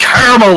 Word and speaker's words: caramel: and a Noob, and it's pronounced Caramel, Lance! Caramel. We're not having this discussion. Holy shit, no. Can't. What is wrong with you people? What the fuck? What is do you mean, what's wrong with us? Never mind. See, we're the ones that actually have good pronunciation, where we actually say caramel. It depends where you live. No, it doesn't. Can't you live in Pennsylvania? It's called caramel.